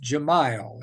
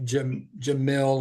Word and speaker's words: Jamal: Jamal, it is pronounced Jamal, is that correct? Yeah. Not Jamil or Jamel or Nah, Jamal. Just think Okay. of Ja and mile, Yeah. like a mile long.